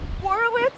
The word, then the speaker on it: Horowitz: Actually, sir, it's Horowitz. The W is not silent.